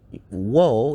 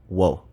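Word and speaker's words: を: really have a lot of W sounds. We basically have wa and wo, and wo is kind of tricky because oftentimes it's pronounced as o.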